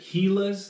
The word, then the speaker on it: Gila: It's just been announced that Gilas, and that's the correct pronunciation because it's named after a lizard that's known as a Gila.